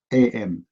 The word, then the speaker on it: Luqman: No, Luqman, if you pronounce it in English, is going to be Luqman. Luke, like this.